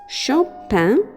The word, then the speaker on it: Chopin: person is called chopa even though it starts with a che it's pronounced shopan or chopa it's a frenchman's national